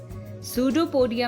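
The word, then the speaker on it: pseudopodia: नहीं पढ़ेंगे रास्पबेरी पढ़ेंगे सूडो पोडिया में भी पी है लेकिन साइलेंट है कबर्ड में जो पी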